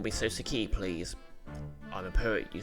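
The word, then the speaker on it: Soseki: me suaki please okay key not Kai that makes more sense thank you NIS call me S key please I'm a poet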